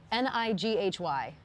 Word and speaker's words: Nighy: Bill Nye, Nighy is how you pronounce his last name. You know who I'm talking about. I don't know who that is. No. Nighy.